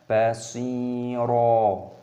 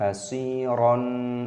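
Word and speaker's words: بَصِيرًا: Dan ra di sini memiliki fathah tanwin, ada tanda alif. Ini dibaca pada tanda wakaf, dibaca sebagai mad iwad. Cara membacanya adalah "basiro ", bukan "basiron", itu salah.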